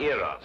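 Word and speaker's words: Eros: and here he is cupid the greek god eras with his broken feet oh i see oh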